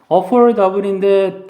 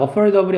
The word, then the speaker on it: affordable: 단어가 아니라 일단 발음부터 affordable인데 D 발음이 R 발음과 모음 사이에 위치하면 이 발음이 R처럼 바뀔 수 있어요. 파티를 party 하는 것처럼. 그래서 얘가 affordable이 아니라 미국 사람 발음하면 affordable 이렇게 발음합니다.